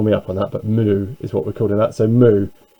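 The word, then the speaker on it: μ: Google Translate as well, and that is actually mu. Yeah, I'll say that again, mu. So I don't know, I mean Greeks might pull me up on that, but mu is what we're calling that.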